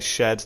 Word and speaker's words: shxd: place we have shxd i've always known a shed that's how you pronounce the name he was the winner